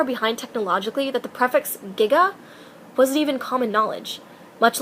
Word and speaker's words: giga: You see, when Bob Gale and producer Robert Zemeckis were doing research for the script, they attended a conference wherein a physicist pronounced Giga as Giga, leading to the now quotable 1.21 gigawatts.